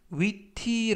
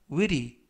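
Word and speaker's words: witty: 쉬어 짧고 에 윌이 이때 위티 라고 발음 하시는 것보다는 어 부드럽게 t 발음을 르 를 또는 드 트 그래서 왜이리 왜이리 라고 발음 하시면 되겠습니다 이때 윌이 하면 재치가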